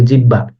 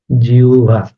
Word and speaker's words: জিহ্বা: আসতেছে জীব বা জিউবা আমরা কিন্তু অনেকে একটা ভুল ইয়ে করি এটার উচ্চারণটা এভাবে যেটা আছে এটা অনেকে বলি জিহ্বা আসলে উচ্চারণ কিন্তু এটা এরকম হবে না এটার উচ্চারণ হবে জিউভা ওকে এই জিউভা বা